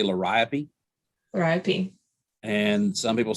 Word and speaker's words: Liriope: And like I say, some people say lirio. I say liriope.